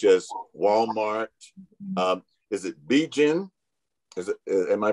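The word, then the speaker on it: Bigen: walmart um is it b jin is it am i pronouncing that right it's uh it's actually pronounced begin it's the hair dye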